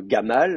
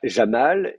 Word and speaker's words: Jamal: à au chameau hein vous allez avoir Gamal euh euh Jamal et Jamel voyez c'est le même prénom mais avec donc la même consonne est prononcée de trois façons différentes dans le monde arabe aujourd'hui donc si déjà à